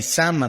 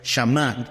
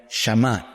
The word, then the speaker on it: Shammah: los del Reina Valera tradujeron así, Sama, pero es Shama. Todavía lo consulté esta tarde. Un hebreo pronunciaría Shama.